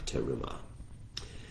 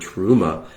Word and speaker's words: terumah: It's no coincidence, I don't think, that the Hebrew word terumah and the English word trauma consist of the same sounds. Trauma, terumah, it's all a matter of vowel pronunciation.